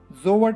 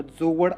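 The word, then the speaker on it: Jawad: उच्चार जर बघितला तर जोवड असा त्याचा उच्चार आहे. जोवड किंवा जोवाड असा उच्चार असेल.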